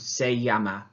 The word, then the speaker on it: se llama: Now notice again in my pronunciation, rather than saying se llama, which you might think is it in English, it needs to be the y sound, se llama.